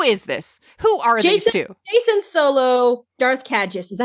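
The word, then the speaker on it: Jacen Solo: it okay who is this who are they Jason solo Darth cages is that how you say his name whatever foreign it's Jason it's Jason solo okay um so for anyone who's not aware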